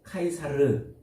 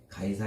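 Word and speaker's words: Caesar: 지금 우리말로 되어 있는데 카이사르를 카이사르라는 표현을 우리말 발음대로 그냥 가이사 이렇게 팩트로스를 베드로 이렇게 하는 것처럼 가이사 이렇게 불러 놓은 거예요 이게 카이사르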